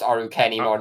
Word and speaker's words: Arukenimon: it it's still I think it's still just pronounced arukenimon regardless of the spelling it's it's because it's